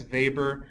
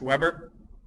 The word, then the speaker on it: Weber: and the working class vber then reminder it's pronounced Max vber not Max Weber vber offered a similar model that also included